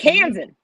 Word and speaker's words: Kansan: It's Kansan. What are you saying? Pronounce it phonetically. Sound it out. Clap the hands. Kansan. Kansan. Like the cans in the cupboard?